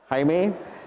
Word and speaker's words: Jaime: Jaime, thank you very much for being here. His is the correct pronunciation. I'm Jamie Ho, the editor of the Straits Times. My name spelled the same, but pronounced wrongly.